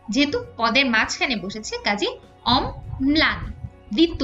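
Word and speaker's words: অম্লান: শব্দের মধ্যে বা শেষে বসলে দীপ্ত হয় যেমন অমলান এখানে যেহেতু পদের মাঝখানে বসেছে কাজেই অমলান দীপ্ত উচ্চারণ হচ্ছে ল যেহেতু দন্তমূলীয় বর্ণ তাই এর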